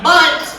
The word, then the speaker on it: Bundt: one in the voice it is spelled b-u-n-d-t bunt cake get ready and fingers